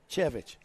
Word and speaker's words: Chervich: Cooper Campbell Lease is alongside we've got Oscar Chervich. Did I say it right? Chervich. Yeah. Yeah.